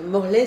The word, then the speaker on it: Morlet: Donc pour ceux qui nous regardent, j'aimerais vous dire que Morlet, c'est comme Chevrolet, ça s'écrit avec ET.